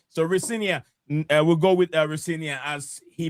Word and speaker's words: Rosenior: he also he said his dad said it's the right pronunciation of his name is Rinia. So yeah, we all gonna instead of Richer as I headed from some other places to be fair,